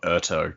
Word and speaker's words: Urteau: I don't know how you pronounce that. It's like, I thought Urto because it's the same spelling as the end of plateau.